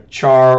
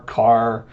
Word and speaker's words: char: of a character or a char or car however you want to pronounce it put a character C